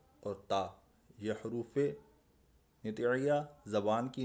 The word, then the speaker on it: تا: اردو تلفظ سے پرہیز کریں، یعنی بے، تے، سے، ہے، خے، توئیں، زوئیں وغیرہ ہرگز نہ پڑھیں، بلکہ با، تا، ثا، حا، خا، طا، ظا پڑھیں.